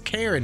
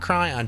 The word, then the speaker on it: Karen: that was a blueprint it's Karen not cryon just saying oh it's Karen I'm sorry I've been pronouncing